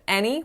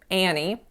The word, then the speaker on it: any: on the word any instead of any with I said Annie like the movie Annie I'll write you guys